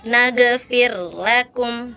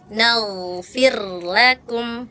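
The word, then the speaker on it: نَغْفِرْ لَكُمْ: Kakak tadi bacanya juga mantul. Nagfirlakum harusnya nagfirlakum.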